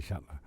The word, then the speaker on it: Shuttler: And Sam Butler rhymes with Shuttler.